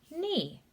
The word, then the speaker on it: knee: here this letter combination that k is silent and we just say e knee this is talking about our body part your practice session for